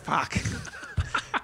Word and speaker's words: FOC: Well, how would you pronounce it? I would say FOC. Ah, you got to say it like fuck. That's what it spells, Tim.